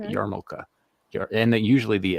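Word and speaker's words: yarmulke: in this case uh when people say yamaka they drop the r it's yarn yarmoka and then usually the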